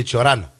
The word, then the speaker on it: Cioran: Bună seara toată lumea, dar aș vrea să vă spun că se spune Cioran. Cioran. Ça se prononce Cioran.